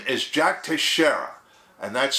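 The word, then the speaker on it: Teixeira: of the uh suspect his name is Jack Tashara and that's spelled tangle Echo India x-ray Echo India Romeo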